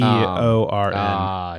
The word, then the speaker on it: Beorn: No, it's not Bjorn. Yeah, it's the bear dude from The Hobbit. Okay. Beorn. Shit.